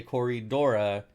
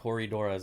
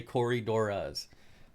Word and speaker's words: Corydoras: really really super triggered when you say Corre Dora and not corydoras like some famous dude yeah Ian fuller that's it Ian fuller don't ever say Corre Dora - Ian fuller say corydoras it's like like the